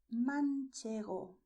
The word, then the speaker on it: manchego: And you also have the cheese that is called manchego.